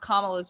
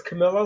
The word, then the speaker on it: Kamala: on our Monday huddle complaining because Sonia Sotomayor pronounced Kamala's name wrong. Oh, I didn't even hear I that. said Kamala during the inauguration. Why did they think her name was Camilla?